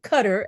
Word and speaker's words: Qatar: the Middle East thought oh Qatar sorry cutter as you say I was saying cutter my husband's like well what's that I was like it's it's the proper way to say Qar right but Qatar right is